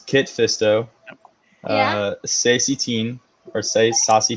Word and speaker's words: Kit Fisto: So it's Kit Fisto, Yeah. Sassy Teen, or Saucy Teen, however you're gonna pronounce it, and then Agen Kolar.